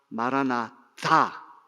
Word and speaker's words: 마라나타: 마라나타라고 하는 말이 사실은 발음이 마라나다, 다로 읽어야죠. 마라나다라고 읽어야 되는데 두 가지 용도가 있어요. 첫째는 마라나다, 한번 따라합시다. 마라나다, 마라나까지 하고 띄우고 다를 가야 돼요.